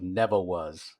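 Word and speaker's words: Nevawuz: in concord it was called the land of neville was and it was spelled n-e-v-a-w-u-z like phonetically you know neville was yeah and i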